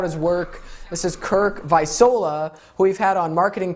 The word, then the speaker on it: Visola: forgot to ask you how to pronounce it visola visola everyone that's that's vice versa